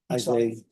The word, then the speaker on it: Isaiah: How does he pronounce his first name? Isaiah. Isaiah, Isaiah. Isaiah. I've been calling you Esau.